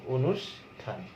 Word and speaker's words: অনুষ্ঠান: যদি তুমি মূর্ধন্য স দিয়ে একটা শব্দ দেখো, যেমন অনুষ্ঠান, অনুষ্ঠান মূর্ধন্য স, কিন্তু উচ্চারণে তালবস্য দিয়ে উচ্চারণ করব, অনুষ্ঠান।